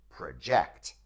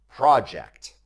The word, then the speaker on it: project: the pronunciation is different with the verb the pronunciation stress is on the second syllable project with the noun the pronunciation stress is on the first syllable project look for another word